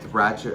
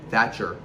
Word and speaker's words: Thatcher: Margaret Thratch. Margaret That, how do you say that? Margaret Thatcher.